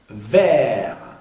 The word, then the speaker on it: verts: En, les grands sapins verts. Aquí vamos a pronunciar ver solamente la R, la T y la S no se pronuncian.